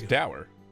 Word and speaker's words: dour: luis in a less doer setting but it seems that he pronounced it i thought it was dour i still can't